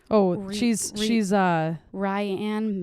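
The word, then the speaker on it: Rianne: oh she's she's uh ryan mayhere is that how you say it yeah where she's from this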